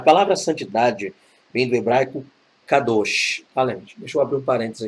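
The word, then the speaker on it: קדוש: Então, a pronúncia correta seria kadosh, kadosh, kadosh, ou não o, kadosh. No hebraico não tem E aberto nem O aberto, então é kadosh. Então, vamos lá.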